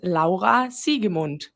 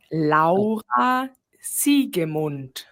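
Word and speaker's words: Siegemund: Hi, my name is La Sigund. La Sigund There you go.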